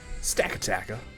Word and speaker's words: Stakataka: Stack-a-taka.